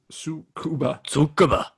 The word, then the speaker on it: Tsukuba: And in the right-hand seat, flight engineer Yoshio Tsukuba. Tsukaba. Tsukaba. Yeah, that's how you say it.